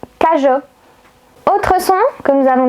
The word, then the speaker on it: cageot: Si vous ajoutez la lettre E entre la lettre G et la lettre O, donc G-E-O, vous allez avoir le son JO. Par exemple, cajot.